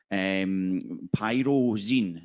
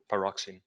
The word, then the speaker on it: pyroxene: Adam has, it looks correctly, and we've got a thumbs up, correctly identified the fact that pyrozine, is it pyro? Pyroxene. Pyroxene.